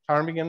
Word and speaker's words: ptarmigan: Here we have three different type of grouse, ptarmigan they're called. And of course, ptarmigan are spelled with the letter P first.